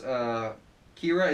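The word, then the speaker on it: Qi'ra: good Emilia Clarke is Kira it's interesting it's spelled Qi apostrophe RA not just Kira like ke hi yeah whatever um as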